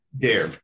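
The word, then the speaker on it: Daire: Dare. Can you spell it?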